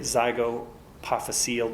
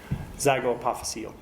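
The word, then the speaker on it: zygapophyseal: It's also called, I don't even want to say it, zygopophyseal joint. If you say it, you've got to spell it. Z-Y-G-O-P-Y-P-H-Y-C-E or S-E-A-L, zygopophyseal joint or Z joint.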